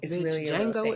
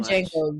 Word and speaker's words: Django: it a littleit said Jango you said Django she say Django on purpose I say Django he said the D is silent the D is it